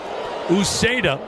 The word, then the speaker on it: Uceta: Uceda making his 57th appearance 9 wins, a save, 3.90 ERA, 83 strikeouts in 60 innings. The pitch, fastball strike, 0-2. Uceda. You spell that last name Uceta.